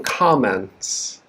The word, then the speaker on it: comments: but i have some comments stresses on the first comments okay the second word